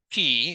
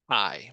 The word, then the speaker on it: chi: of fit so yes it's not pronounced ke it's pronounced Kai okay so we do